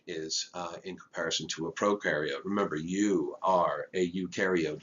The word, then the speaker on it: prokaryote: in comparison to a prokaryote. Remember, you are a eukaryote. Your cells have nuclei. Pro rhymes with no.